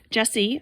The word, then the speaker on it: Jessie: Jesse, a boy, even though it's spelled Jessie, lives in New Orleans with his mom and his baby sister Betty.